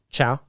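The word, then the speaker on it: Chau: Nick, how do you pronounce that? C-H-A-U. Chow? C-H-A-U. Chow, yeah. Chow, okay.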